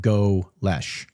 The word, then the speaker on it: Golesh: USF introductory press conference, they pronounce it Golesh. I assume that's how that pronunciation is. So Golesh. Golesh.